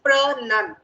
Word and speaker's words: pronunciation: So though it is pronounced, the right pronunciation is pronun. It's not pro, so it doesn't